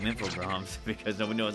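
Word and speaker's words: Infogrames: with that today learned infog GRS is pronounced the French way I know when I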